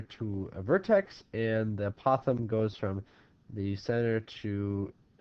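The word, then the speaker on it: apothem: I call it the apothegm because it sounds like an opossum, but a lot of people call it the apothegm. It can be pronounced either way.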